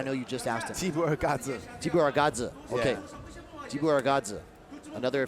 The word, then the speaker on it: Jibuergare: Jibuergare.